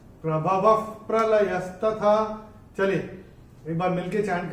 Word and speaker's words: प्रभवः प्रलयस्तथा: अक्षर है प, और विसर्ग के बाद जब प या फ आता है तो विसर्ग का उच्चारण होता है फ। जैसे फूंक मारते हैं ना, वैसे फ। तो प्रभवः प्रलयस्तथा, प्रभवः प्रलयस्तथा, ये ऐसे करके होगा।